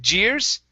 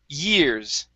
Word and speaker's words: years: so last two years we're looking at the Y on years instead of Jers it's y years years try that years